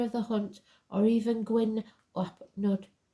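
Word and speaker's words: Gwyn ap Nudd: He may be known as Janus, Herne the hunter, the horned god, master of the hunt, or even Gwyn Upnud, pronounced Gwyn Upneth, king of the fairies.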